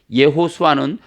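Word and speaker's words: יהושע: 자, 여기 예호수아는 원래 예호와 야샤 이 두 단어가 합쳐진 거예요. 여호와의 구원이란 뜻이에요. 그러니까 여호수아는 여호와의 구원이란 뜻이에요. 자, 예호수아가 원 발음인데 예호수아 네 자잖아요.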